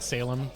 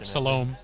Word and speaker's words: Salome: Obviously he didn't ride Salem or Salome as it's actually pronounced, but he didn't have anything to give it to, so now he is paying for Ashley's cost.